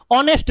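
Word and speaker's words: honest: ऑनेस्ट मैन, अब इसका उच्चारण करिए, ऑनेस्ट मैन।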